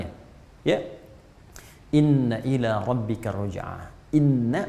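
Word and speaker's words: إِنَّا: ya inna ilaihi roji'un Inna pakai tauhid bacanya pendek bukan ini tapi Inna Inna Ila robbika Roja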